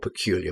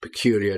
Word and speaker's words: peculiar: I used two of them together in one example there, funny andor peculiar, but you can use them separately, and they they have similar meanings. And again, with peculiar, just be careful with the pronunciation.